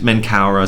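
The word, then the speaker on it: Menkaure: or catherine uh and menkaura slash mikharinas yeah on officer here the the first version the first variant is the more egyptianized form of the name the second is the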